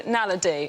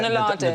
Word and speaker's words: naledi: The Homo naledi, or naladi. Nadali.